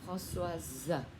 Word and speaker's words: Françoise: Tên con trai, tên con gái thì sẽ là Françoise, thêm chữ ơ và đọc là giờ.